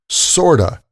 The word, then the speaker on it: sort of: And just like kind of sounds like kinda, sort of is usually pronounced sorta in casual speech, like, "I sort of get it," or "I'm sort of confused."